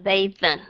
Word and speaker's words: bathe: Nên những cái chữ mà các bạn sẽ thấy, cái chữ bathe, to bathe, B-A-T-H-E, thì cái ngày xưa đó là bathen, bathen.